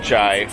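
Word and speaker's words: çay: um but she ordered chai which is circus copy it looks like c-a-y is the way it's spelled but has the hang down on the c makes it a ch sound i'll have it on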